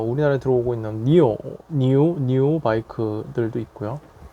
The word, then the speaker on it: NIU: 뭐 우리나라에 들어오고 있는 니오 바이크들도 있고요. 뭐 솔직히 NIU라고 해서 뭐 니우 이렇게 발음을 많이 하는데, 정식 이제 한자로 된 이제 중국 발음은 니오라고 하죠.